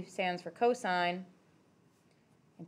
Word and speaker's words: cosine: shorter it's not also cost isn't even the right sound at the beginning of that word it's cosine cos maybe but also it's just